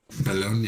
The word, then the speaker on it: Bologna: How do we pronounce last week's course? Trofeo Bologna. Bologna. Yeah, that's it.